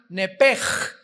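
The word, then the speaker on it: נפש: es nepesh, se pronuncia nepej, la CH en hebreo se pronuncia como J, nepesh, murió.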